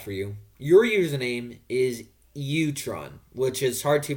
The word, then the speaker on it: Ewerton: Utron is how you actually pronounce it, is definitely okay with doing the interview with me.